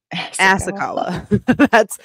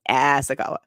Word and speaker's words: Asakawa: Asakawa. That's it. That's how you pronounce that. Asakawa.